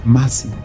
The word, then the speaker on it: Moses: an ancient aramite language the name Moses is pronounced as Massi this linguistic and cultural